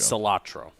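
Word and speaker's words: Calitro: spell it right goal i think it's just cilantro without the n that's what i think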